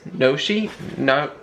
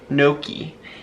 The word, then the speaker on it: gnocchi: How do you say this? Noshi? Gnocchi.